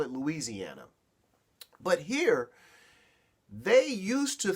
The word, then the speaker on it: Louisiana: from where I live we we call it Louisiana here y'all call it Louisiana but here they used